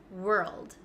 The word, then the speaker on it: world: pronounce so let's go over this one we pronounce this world world okay let's go step by step because